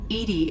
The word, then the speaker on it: EDI: airlock is a jar why are you named edie edie is the phonetic pronunciation of e that is an acronym for